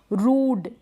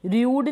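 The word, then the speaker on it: rude: फिर क्या है, रूड, र्यूड नहीं, रूड, इंटरलूड, इस तरीके से।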